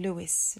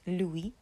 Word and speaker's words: Louis: always hear people saying Luis Luis um and actually it's Louis so we the S is silent Louie and then we Don